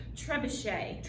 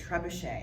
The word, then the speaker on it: trebuchet: Trebuchet. Trebuchet.